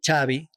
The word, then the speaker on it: Xavi: But in Spain, they call me Xavi. And the V is pronounced like a B.